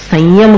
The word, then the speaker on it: संयम: संयम, संयम का उच्चारण कैसे करते हैं? स के ऊपर बिंदी है कि नहीं? अब उसका उच्चारण अपन संयम नहीं बोलते, संयम करते हैं। क्यों करते हैं? क्योंकि आगे य है, सं और य, यम, यम का य है ना, तो उस य में उस अनुस्वार के उच्चारण को मिलाना पड़ता है।